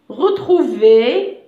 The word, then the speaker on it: retrouver: Retrouver, je vous trace ER à la fin, donc ER à la fin du mot se prononce E.